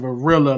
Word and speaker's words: Varilla: Felipe John, like Jean, Bernal, Banaw, and then Varilla, like vanilla, but with an R.